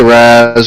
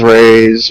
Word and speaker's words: Raz: not saying it right ra is fine you can just call me Raz raise res any variations I tend to answer to and by the